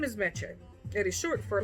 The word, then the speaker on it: Meche: So in order for them to pronounce it correctly, I tell everybody it rhymes with leche.